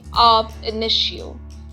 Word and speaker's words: ab initio: A contract or an agreement with a minor is void ab initio, that is, void from the beginning. Let us understand the pronunciation of the maxim.